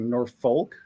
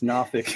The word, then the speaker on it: Norfolk: here uh at Virginia Beach and I first pronounced as like nor folk and someone's like oh don't say that it's nfic and I was like okay I thought it